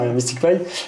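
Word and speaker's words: MSTICPy: Je le prononce bien, ouais. Ouais, c'est ça. MysticPy.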